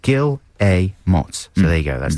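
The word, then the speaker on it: Guillemots: Some people say Gilmo Gill. I say Gilamott just to say yes. Gilmo. And that's trains to Brazil. Gilot. Gileots. Yeah, it says underneath pronounced Gil Amos.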